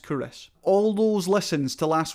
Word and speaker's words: Culross: It's spelt Culross, but it's pronounced Kouros.